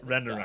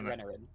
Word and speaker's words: Renarin: We got rain at the Renaran. start. Is it Renaran? Am I saying it right there? Renarin. Renarin. Is it Renarin?